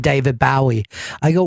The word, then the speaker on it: Bowie: David Bowie I go why do you say it that way why do you people said it's not the correct way to say it you're doing that on purpose and he couldn't defend you know that he's named after like the Bowie knife the Jim Bowie that whole thing yeah he's